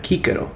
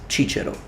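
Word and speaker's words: Cicero: please note again that I am using classical pronunciation for his name because in ecclesiastical pronunciation of Latin his name will be pronounced Chicho not Kiko just to make sure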